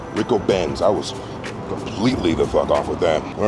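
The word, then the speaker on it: Ricobene's: Apparently, the name of the restaurant is pronounced Rico Benz. Rico Benz.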